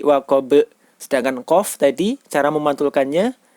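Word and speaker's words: وقب: Sedangkan huruf ba, cara memantulkannya yaitu seperti bunyi huruf E atau E, jadi waqab.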